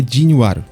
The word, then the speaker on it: Jinual: Na pronúncia da dublagem do anime é Jinwaru.